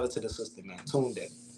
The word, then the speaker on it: Tunde: So it's TUNDE _ Tunde. Yeah, It's Tunde. Tunde. Yeah, that's how you say it.